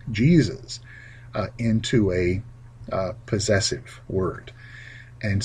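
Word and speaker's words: Jesus': yes furthermore you don't would not pronounce the extra s either so it's jesus apostles jesus disciples jesus teaching number eight has to do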